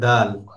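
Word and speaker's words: دال: খ এরপরে দাল। দালটা হলো জিহ্বার আগা সামনের উপরের দুই দাঁতের গোড়ার সঙ্গে লাগিয়ে।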